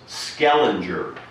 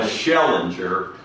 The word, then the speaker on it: Schellinger: to correct me that the name was skellinger landing and I'm schellinger as I so crudely pronounce it yes I think I